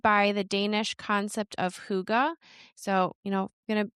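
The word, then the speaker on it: hygge: It's also inspired by the Danish concept of huga. So, you know, going to confess for a very, very long time, I thought this word was called higgy.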